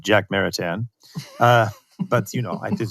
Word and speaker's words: Jacques Maritain: And so I'm thinking of people like Karol Wojtyła, John Paul II, Jacques Maritain, right? That's my French pronunciation of Jacques Maritain.